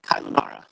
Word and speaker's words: Cáelunárra: So is it Caelunarra? How do you say it? Oh, it's called The Shadow of Cáelunárra.